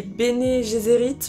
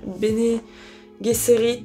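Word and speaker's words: Bene Gesserit: et française voilà mais les Béné gésérites je crois qu'on dit bé géérit je crois on dit en français peut-être oui ça doit être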